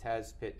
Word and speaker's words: Tazpit: as I would pronounce it, Tazpit, T-A-Z-P-I-T.